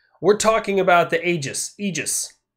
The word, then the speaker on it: Aegis: talking about the Aegis egis egis a look it's spelled with an A but apparently it's pronounced with an e and today I went